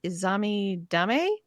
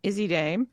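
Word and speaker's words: Izzi Dame: Kalani Jordan, Jada Parker, Lola Vice, Lash Legend, Izami Dame, Tatum Paxley, Zelina Vega. Izzy Dame. That was an epic mispronunciation.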